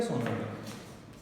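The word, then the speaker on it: tsunami: अब ये सोनामी, इसमें ये टी जो है वो साइलेंट है, ठीक है। तो ये सिर्फ सुनामी हम इसको कहते हैं।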